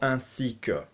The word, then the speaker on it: ainsi que: 10 or semaine we're obviously going to be pronouncing that like an app so a C or a seeker okay so this word is so useful but